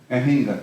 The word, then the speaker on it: Anhinga: How do you pronounce that? I thought it was Anhinga. Anhinga, right.